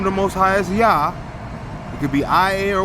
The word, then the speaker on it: Yah: Okay, the name of the Most High is Yah. It could be I-A or Y-A-H, either way you want to spell it.